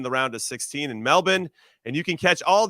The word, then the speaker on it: Melbourne: uh I get it what's funny is that you have Brisbane which is spelled with a b-a-n-e and then you have Melbourne and it's still pronounced the same Brisbane and Melbourne and you know what